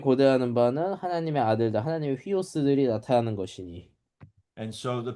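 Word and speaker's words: υἱός: 휘오스.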